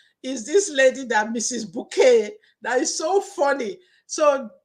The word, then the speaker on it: Bucket: That lady, Mrs. Bouquet, that surname is spelled as bucket.